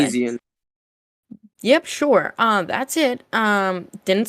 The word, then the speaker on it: Peloponnesian: So, and then the final hackathon that's happened so far, the Polynesian Conquest. Hard name to say. Peloponnesian.